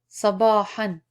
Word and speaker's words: صباحا: And it's very important to pronounce han. Every time you have tanween and there is an alif with two fathas, referred to as tanween, it's advised not to pause at the end of the word if it has alif with tanween.